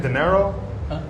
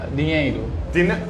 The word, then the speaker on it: dinheiro: Isn't it dinero? Dinero? In Uh, Portuguese, if I'm not mistaken, dinero? Dinheiro.